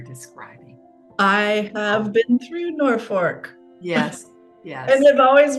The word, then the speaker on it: Norfolk: I have been through Norfork yes yes and I've always wondered why did they pronounce it Norfork when it's Norfolk it was one of